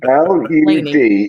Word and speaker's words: Lud: You get on our case all the time for mispronouncing what is very obviously L-U-D is Lud.